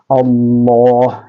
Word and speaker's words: അള്ളാ: പറയുമ്പോൾ നമ്മുടെ നാവ് എവിടെയാണോ തട്ടുന്നത് ലാം ലാം എന്ന് പറയുമ്പോൾ നമ്മുടെ നാവ് തട്ടുന്ന ആ സ്ഥലം ഉണ്ടല്ലോ അവിടെയാണ് അള്ളാ എന്ന് പറയുമ്പോഴും തട്ടേണ്ടത് ചില ആളുകൾ അള്ളാ എന്ന് പറയുമ്പോൾ നാവ് പുറത്തേക്ക് വരുന്നത് കാണാറുണ്ട് അങ്ങനെ പറയാൻ പാടില്ല അത് തെറ്റായ ഉച്ചാരണമാണ് അപ്പോൾ അത് നാം പ്രത്യേകം ശ്രദ്ധിക്കണം അള്ളാ എന്ന് തന്നെ പറയണം ഇനി രണ്ടാമത്തെ ഒരു മാർഗ്ഗം